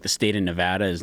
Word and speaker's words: Nevada: Everyone who lives there calls it Nevada. What do I say? Nevada. Nevada. I think I said Nevada. Yeah, it's incorrect. Las Vegas, Nevada. I don't know what I say. Yeah. I have to be alone without you influencing me. So remember when you think about it next time, they'll call it Nevada.